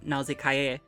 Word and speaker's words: Nausicaä: a couple of reasons one it's two syllables NASA which is supposed to be pronounced something more like naay in any case is syllabically slurred as in